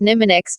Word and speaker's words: mnemonics: strategies for improving memory called mnemonics pronounced nimah Nix to help you improve